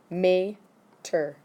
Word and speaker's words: Meter: I want to write pronunciation down for that one. Meter. Okay. Like the car in Cars, yes.